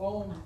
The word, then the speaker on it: Om: So Om is just not O-M, it's A-U-M or...